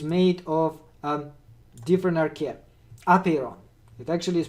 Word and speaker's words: apeiron: of a different archaea apeiron it actually is pronounced apero the accent on the first syllable apheron apiron to him